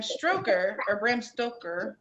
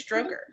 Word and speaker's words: Stoker: Bram Stoker, I thought his name was Stroker. Anyway, used Vlad Tepes as his model for vampires.